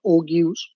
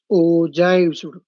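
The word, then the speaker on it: ogive: बी एस बेटा ओ शायद तुम लोग बेटा अपने में उसे ओग्यूस ओग्यूस बेटा बोलता होगा शायद है कि नहीं तुम्हारा प्रोनाउंसिएशन से ये होगा ओगस बट बेटा इट इज नॉट ओगस इट इज नॉट बेटा ओ इट इज ओजा वो जाए।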